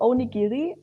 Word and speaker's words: onigiri: before you jump on the train, like the onigiri, I don't know really how to pronounce it right. Sorry. It's like a onigiri is right.